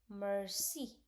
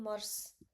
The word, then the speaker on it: merci: Now, I told you that we don't need to pronounce the last word, but why I'm not saying merce? And why I'm saying merci? Like here, I'm pronouncing I.